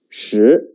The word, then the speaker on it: 十: look at the picture it means ten the pronunciation is sh write it with me the writing order is